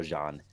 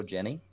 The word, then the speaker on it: Jeanne: up so according to if we go with the French pronunciation we're gonna go John John I loaded the game